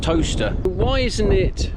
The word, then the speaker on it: Towcester: It's Towcester spelt Towcester, pronounced toaster.